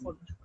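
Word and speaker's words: Pfund: एंड कहीं से भी लैंड करें और यहाँ पर गिरे, that is called as फुंड। P is silent, फुंड series.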